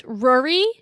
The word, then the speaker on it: Ruaridh: I think it's Ruaridh, like literally like Rory with a U.